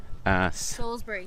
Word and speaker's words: Salisbury: We're in, how do you say this word? Salisbury. Salisbury, not Yeah.